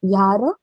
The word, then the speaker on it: Jahre: So 26 Jahre alt. So when a word is starting from J, no, it has to be pronounced as Y.